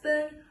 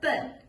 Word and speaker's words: 奔: You can pronounce it as ben or ben. Ben is 奔跑, like running. Ben is 投奔, which means seek refuge.